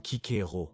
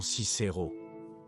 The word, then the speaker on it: Cicero: Nous savons que le C se prononçait comme un K, donc le nom aurait sonné comme Cicero et non Cicero, ce qui serait sa prononciation en latin ecclésiastique.